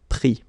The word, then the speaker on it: pris: Same thing here. Final S not pronounced, so prendre, pris.